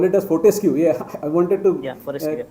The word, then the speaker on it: Fortescue: blast engineer and currently he is working with protest metal group mr nazim hope i pronounce it correctly yeah that's one it's actually fourth ice cube metal screw okay we call it as fortescue yeah i wanted to yeah correct that yes